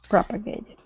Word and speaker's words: propagated: word propagated okay so our stress is at the very beginning propagated very good and uh